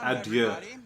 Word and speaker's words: adieu: He should pronounce it adieu, because that's the French way. And the French pronunciation literally means to God.